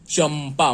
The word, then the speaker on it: चंपा: तो च के ऊपर अनुस्वार है और अगला वर्ण प का है, इसलिए इसका उच्चारण म के जैसे होगा। म के उच्चारण में चूंकि ये ओष्ठव्य है, इसका उच्चारण ओष्ठ से होता है, इसलिए इसमें मुंह बंद हो जाता है पूर्णतया। चंपा, म के उच्चारण में यहां मुंह बंद हो जाएगा।